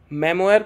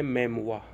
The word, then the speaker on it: memoir: Memoir के बारे में कौन सा statement बिल्कुल सही है? इस word की जो pronunciation होती है वो होती है memoir. That is a French word.